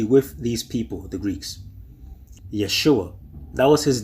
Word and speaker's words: Yeshua: Now, I know they try to justify it by saying that they could not pronounce the sh. So instead of saying Yeshua, they say Yeshua?